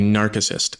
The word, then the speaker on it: narcissist: It should be narcissist. The guy who fell in love with his reflection was Narcissus. The C is hard in Latin.